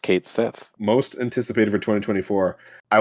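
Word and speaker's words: Cait Sith: and Kate Sith which we now know is pronounced Kate Sith most anticipated for 2024 I want to say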